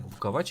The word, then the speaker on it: Bukovac: Они говорят Буковач, а пишется Буковак.